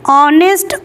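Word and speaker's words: honest: है थॉट में देखिए ऑनेस्ट ऑनर तो यहां पे जो है ऑनेस्ट नहीं होगा ऑनेस्ट होगा ओके ऑनर नहीं होगा ऑनर होगा तो यहां इन सारे शब्द में ह साइलेंट है तो यहां पे आपका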